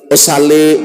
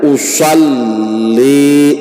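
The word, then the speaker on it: أصلّي: Jangan usolli usali jah. Alif sin lam dibacanya usal. Sebujurnya mana? Usoli lamnya itu bertasdid.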